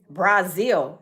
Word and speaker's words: Brazil: Why is he saying Brazil? He says he got six degrees, but I don't understand why he misbe him be mispronouncing his words. Brazil. No, it's Brazil. You're not from there. It's called Brazil.